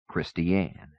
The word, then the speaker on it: Christian: town marker flashed by Pass Christian pronounced not like Christian Zach new but like a girl's name christianne he was already in